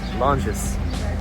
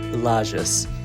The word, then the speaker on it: Lages: to the next city, Les. So, I realized much later in the week that I was pronouncing the name of the city wrong. It's actually Lis.